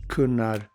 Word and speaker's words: Gunnar: So names like Gunnar, Gunvar, Gunhild, all would have been pronounced more of a K, a guttural K. Kunvald, Kunnar, Kunhild.